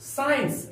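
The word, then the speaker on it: science: लेते हैं हम लोग साइंस एस सी आई ई एन सीई यहां पर प्यारे बच्चों सी का उच्चारण नहीं किया गया है साइंस का अर्थ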